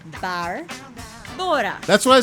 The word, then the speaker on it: Barbora: okay, so how do I break it down to people is you go to the bar. Barbora. And then you fly to Bora Bora once. Barbora.